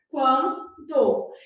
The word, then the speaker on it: quando: Quando o U é pronunciado aqui, ó, quan, né? A gente fala esse U, o N não, quando.